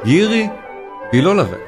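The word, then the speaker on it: Jiří Bělohlávek: Yiri Bilolavec c'est comme ça qu'on prononce en tchèque, le nom du vainqueur.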